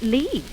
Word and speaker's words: Lits: This is the wagon Lee office. Why, it's spelled wagon lits. I know it's spelled lit, but over here they pronounce it Lee.